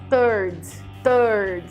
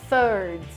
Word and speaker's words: third: Ele usa o som de T porque é muito mais próximo do português e é muito difícil de pronunciar essa palavra corretamente, mas o jeito certo de falar essa palavra que quer dizer terceiro em inglês é a pronúncia de third.